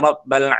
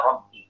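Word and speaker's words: رَبِّ: Itu bacanya sama Rabbi. Itu sebenarnya kasroh ya. Berarti kalau kita sama itu kasroh, bukan fat.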